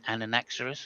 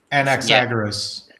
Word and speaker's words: Anaxagoras: I can't I'm so bad with my pronunciation, but an Anaxerus or something like that. He was a naturalist. Anexis. Anaxagoras.